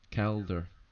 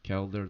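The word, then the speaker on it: Caulder: this is a torch bear his name is caler k a u l d e r in case you want to spell it so caler the torch bear our NPC with us is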